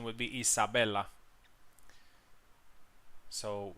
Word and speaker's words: Isabella: correct pronunciation would be Isabella so not with the Z but with an s and yatzik is uh